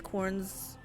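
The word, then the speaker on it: Khorne: always against their will yes pronounced like corn okay servatur are not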